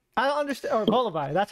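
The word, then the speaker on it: Volbeat: Oh, like Braviary or for some reason Volibeat. I don't understand. Or Volibee. That's how you pronounce it.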